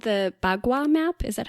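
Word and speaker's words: Bagua: Is it called the BWA map? Is that how you pronounce it? Yeah, you got it right. The BWA map.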